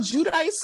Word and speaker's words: Giudice: Joe Giudice, is it Judice or is it Giudice?